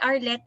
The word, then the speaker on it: Arlette: Dahil ang pangalan ko ay Arlette and Scarlet rhymes with Arlette.